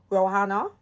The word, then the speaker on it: Rowenna: So we're going to be touching back with Rowenna. I say it right? Rowenna Davis, yeah.